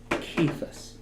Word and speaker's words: Cephas: Greek should be pronounced kephus because it's a transliteration it's not a translation so they should sound similar the Gospel of John